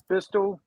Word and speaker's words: Beistle: Bistle. I don't know what Bissell, the I company think. name is. Beistle.